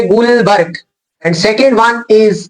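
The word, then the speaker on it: Guldberg: रखनी very important here D is silent so क्या पढ़ेंगे हम इसे गुलबर्ग and second one इज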